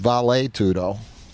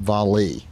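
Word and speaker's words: vale tudo: began and it's pronounced valet tudo Portuguese and Spanish being similar in this respect and I speak Spanish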